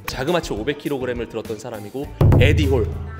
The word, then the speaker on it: 에디홀: 에비홀? 네, 아니, 에디홀, 에디홀. 에디홀, 발음 똑바로 하셔야 돼요.